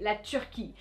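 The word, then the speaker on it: la Turquie: look at it yes turkey the animal you do say dunde but the country no that's not how you say it you actually say lechuki and if this company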